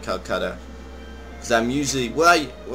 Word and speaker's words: Kolkata: And I just realized I've been saying it wrong previously and calling it Kolkata. It's Kolkata. I know.